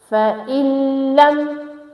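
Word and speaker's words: فَإِن لَّمْ: Next is فَإِلَّمْ. Now noon is silent, okay? There is sakin at noon, but the next letter is lam, so we have to match hamza kasra directly with lam.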